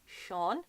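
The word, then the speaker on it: Seán: I don't know what way this video is around, but it actually goes up on the E, so it's Sean.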